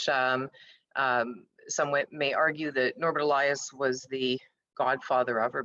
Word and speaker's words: Elias: I do say Elias, I do not say Elias. I'm one of those people, the Porsche people, who prefers to disambiguate his name to more of a Western pronunciation.